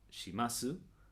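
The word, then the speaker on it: します: Shi, masu, flexionado de esta manera. Shi, masu. El su la u del su no se pronuncia. O sea que en lugar de shimasu vas a decir shimas.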